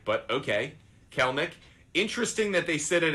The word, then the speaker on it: Kelenic: Looks like it would be pronounced Kelenic, but okay. Kelenic.